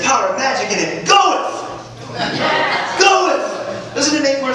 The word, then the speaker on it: Goethe: That's how you pronounce it. Goethe.